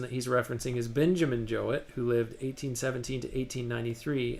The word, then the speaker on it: Jowett: So he says, what interested me most was his opinion of Jowett. And then in parentheses, he says, here usually pronounced to rhyme with poet. And this person that he's referencing is Benjamin Jowett, who lived 1817 to